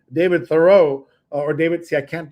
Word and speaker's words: Thoreau: Thoreau my whole life, but it's now Thoreau. Thoreau. Yeah. Thoreau is how you pronounce it.